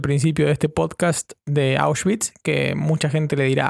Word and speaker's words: Auschwitz: Yo antes le decía Auschwitz, pero cuando empecé a estudiar alemán me di cuenta que se decía Auschwitz.